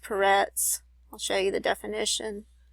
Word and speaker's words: Peretz: And over here you see that it's pronounced Peretz.